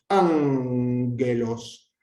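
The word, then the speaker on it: ἄγγελος: Todas las palabras en las que la gama aparezca delante de otra gama, de una capa, de una ji o de una xi, va a tener la pronunciación nasal.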